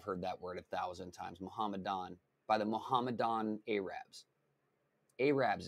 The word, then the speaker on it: Mohammedan: I always want to say Mohadin, but that's not the way it's Mohammedan. It's Mohammedan. Oh my God, I've heard that word 1,000 times. Mohammedan by the Mohammedan Arabs.